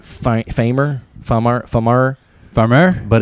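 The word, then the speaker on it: Phamer: way okay yeah it's spelled p-h-a-m-e-r like Famer farmer Farmer farmer but it's pronounced farmer okay fancy Tolbert and Bud killed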